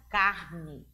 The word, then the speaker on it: carne: E o acento vai modificar o som, a pronúncia da palavra. E aí temos carnê. Observe que na última sílaba, no nê, tem um acento circunflexo. E na segunda palavra, aparece a palavra carne. A escrita é a mesma.